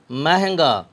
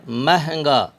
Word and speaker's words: مہنگا: الف زبر کا، ٹانکا۔ مہنگا، یہ بھی کافی توجہ طلب لفظ ہے، مہنگا۔ اس کے ہجے کیسے کریں گے توجہ فرمائیں۔ میم ہے زبر مہ، زبر کو مجہول آواز میں پڑھیں گے، نون غنہ گاف الف زبر گا، مہنگا۔ میم ہے زبر مہ،